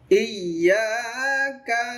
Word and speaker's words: ইয়্যাকা: ইয়্যাকা না'বুদু ওয়া ইয়্যাকা নাস্তাঈন। ইয়্যাকা না'বুদু ওয়া ইয়্যাকা নাস্তাঈন। ইয়া, আবার ইয়া এরকম হবে না, তাসদিদের মধ্যে আওয়াজটা কিন্তু বন্ধ হয় না।